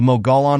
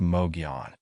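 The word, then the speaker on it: Mogollon: same story to tell the molan monster pronounced Mogan the molan monster was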